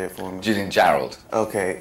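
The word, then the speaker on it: Jarrold: it for Me Julian Gerald okay it is like it sounds I was like you know that looks like Gerald but I don't caral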